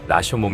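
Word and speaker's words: 羅生門: 1915년 발표한 단편 소설입니다 나 생 문은 오사카에 있는 한 궁궐의 남문을 가리키는데 일본식 발음으로 는 라쇼몽 이라고도 합니다 이 세상에 펼쳐진 인생을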